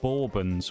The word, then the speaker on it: Bourbon: Borbin rather than bourbon, which is the US drink.